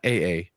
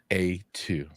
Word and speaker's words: A2: Not double A, not AA, A2.